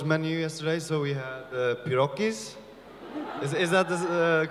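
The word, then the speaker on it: pierogi: had a Polish menu yesterday so we had Iraqis is that the correct way to say P Rocky's yeah I'm waiting when you will not name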